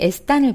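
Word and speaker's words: están: 자, 에스탄 N으로 끝났죠? 자, N으로 끝났으면 어때요? 똑같이 맨 뒤에서 두 번째입니다. 그렇기 때문에 앞에 있는 이를 올려야 되는데 어때요? 에스탄 할 때 아에 아센토 들어간 거 보이시죠?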